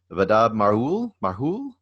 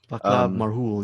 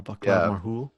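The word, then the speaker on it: Václav Marhoul: Vadab Marhul. Vaclav Marhul. Yeah, Vaclav Marhul.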